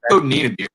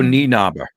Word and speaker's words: Nienaber: Wilco Niederbier, I always say his name wrong, but Wilco is a great price of all, about 5,000 yards off the tee. Wilco Nienaber. Because, I'm always going to butcher that.